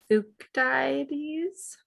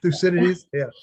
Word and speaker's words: Thucydides: researchers able to discern fukudaities butchered that name yeah thucydides yes um discern his biases